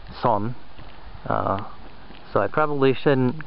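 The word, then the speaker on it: 선: It's actually the Korean cognitive Zen, which is pronounced Son.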